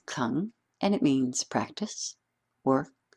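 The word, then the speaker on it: 功: Now, although it is spelled Gong, it is pronounced Kung, and it means practice, work, cultivation.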